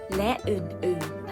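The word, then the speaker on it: ฯลฯ: ไปยาล ใหญ่ นะ คะ วิธี การ อ่าน ก็ คือ ที่ สหกรณ์ โรง เรียน ขาย สินค้า ตัว อย่าง เช่น ปากกา ดินสอ ไม้ บรรทัด และ อื่น ๆ นะ คะ แล้ว ก็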